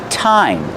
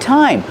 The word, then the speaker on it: thyme: It's pronounced thyme. That's right, thyme. Like, what time is it? The pronunciation is thyme. Use the real T sound.